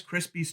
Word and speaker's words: Krispies: it is called Rice Krispies Treats Cereals. I have never usually pronounced that S at the end of Krispies. I usually just say Rice Krispie Treats Cereal, but that's not what this really is.